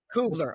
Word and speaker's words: Cubbler: How do you pronounce it? Cubbler.